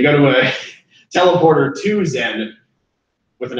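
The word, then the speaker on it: Xen: portal to an alien planet called Zen, but it's spelled with an X.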